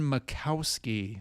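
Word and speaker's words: Majkowski: This is Don Macowski. The uh the Jay is silent on the Magic Man Champagne.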